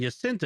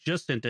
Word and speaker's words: Jacinta: And the J in Jacinta is pronounced as a J, in Jacinta is pronounced as a J, like Janet.